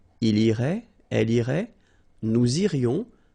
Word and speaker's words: irait: And then, il, masculine form, irait, final T not pronounced.